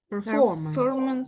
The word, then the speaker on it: performance: Performance. Yes. Performance. Yes. The stress is on the O.